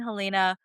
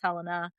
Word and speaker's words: Helaena: So yes, Alicent and Helaena. I will not mispronounce her name again. Sorry. In my head, when I read the book, her name was Helena.